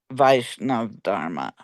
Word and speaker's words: Vaishnava: Uh even even outcasts may embrace Vaishnava Dharma. How do you pronounce Yeah, Vaishnava Vaishnava Dharma.